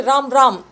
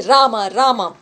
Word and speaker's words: Rama: So if you can say Krishna, you pay attention and don't say Ram. You can say, but don't say. Just say Rama.